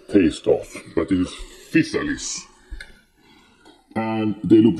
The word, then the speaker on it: Physalis: My Physalis. Make sure not to pronounce it the wrong way.